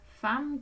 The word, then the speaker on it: femme: Femme qui est un nom féminin qui représente une personne. On prononce femme, mais on écrit F-E-M-M-E.